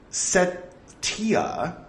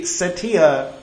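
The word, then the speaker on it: Cetiya: for alms in the set Tia c-e-t-i-y-a I'm used to pronouncing C with an S sound if it has an e after it correct me if I'm wrong see there it is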